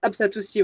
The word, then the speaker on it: Apsatoussi: cité les produits de Apsatoussi. Est-ce que j'ai bien prononcé, c'est ça? Oui, Apsatoussi, oui.